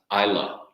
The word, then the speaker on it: Islay: So if you ever see Islay on a bottle, it's pronounced Islay. You can say Islay if you want, but people will kind of